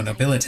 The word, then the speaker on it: Nobilite: Oh, Nobilite is how you're supposed to pronounce that.